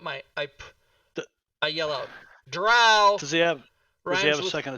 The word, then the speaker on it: drow: and i yell out drow which rhymes with cow everybody and grund karen